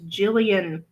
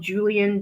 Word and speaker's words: Jillian: names correctly is because my name is Jillian. And I get called Julian, Jillian, Jillian.